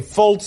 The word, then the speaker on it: Fultz: Okay, Fultz is the way the name is pronounced.